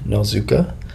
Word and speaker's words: Nozuka: And you got to type in my name, which is Justin Nozuka, and the last name is spelled N like Nancy, O-Z-U-K like karate, and A.